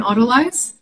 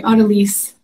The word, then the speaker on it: autolyse: i'll uh do an autolyze uh sorry oddelyse that's how you say it uh apparently i think